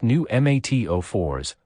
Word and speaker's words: pneumatophores: bald cypress automatically produce knees technically called pneumatophores pronounced new mat04s modified arenchymetis roots that grow upward into the